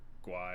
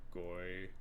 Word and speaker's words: Guay: I didn't actually know how to pronounce if it is Rebecca Gay or Guay or Goy. But I also, again, don't know if there's any relation. Go Bucks. It is pronounced gay.